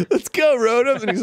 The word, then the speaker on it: Rotom: What was that for, Rotom? Go put that little trickster back in your bag. Dang, dude, I unfollow me. Pronounce it like Roto.